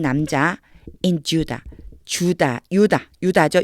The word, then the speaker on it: Judah: 베들레헴에 있는 한 남자 in Judah. 유다죠. 유다인데 영어 발음은 주다라고 나요.